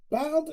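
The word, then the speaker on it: Badb: Bald is spelled B-A-D-B, but it's pronounced Bald.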